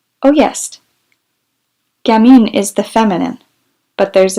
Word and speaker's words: gamin: what a gammon is gammon she gave it the english pronunciation oh yes gamin is the feminine but